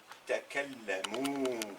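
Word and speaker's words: تكلموا: Il au pluriel, il masculin au pluriel, hum, c'est la marque finale, c'est le waw qui va se prononcer ou, suivi d'un alif qui ne se prononce pas. Donc ils ont parlé takallamu.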